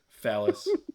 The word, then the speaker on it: Fallis: Fallis. But it's actually pronounced Phallus.